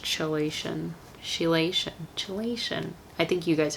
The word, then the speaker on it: chelation: Never mind, it's pronounced chelation.